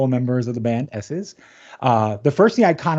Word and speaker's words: Esses: It is pronounced S's, um, as in the letter S.